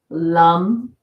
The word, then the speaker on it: Lam: And for educational purposes, the sound seeds of each chakra, Lam, Vam, Ram, Yam, Om, and then this is silent. Lam for the root chakra.